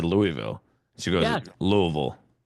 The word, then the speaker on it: Louisville: If you live there, they say Louisville. Because they're lazy. Well, I can't say that. But I can say it. They're lazy. True. I'm like, that's not how you pronounce it, but okay, make up whatever you need. Right. See? Right? Because the town was named after King Louis, King Louis of France, right?